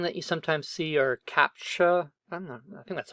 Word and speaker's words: CAPTCHA: attacks another thing that you sometimes see are CAPTCHA that's how you pronounce it some captcha forms where you have